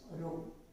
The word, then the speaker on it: rho: How do you pronounce it? Rho.